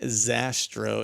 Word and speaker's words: Zastrow: hunting podcast and today I'm joined by sastra and please tell me that I got your